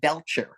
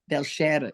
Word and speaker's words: Belcher: were pronouncing it wrong they was saying beler like a burp I went what an ugly name but it's not beler at all it's beler it's actually beler belar it's a French name